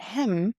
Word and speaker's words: him: Can you see that hem is pronounced as M? The H is not pronounced because it helps with the rhythm.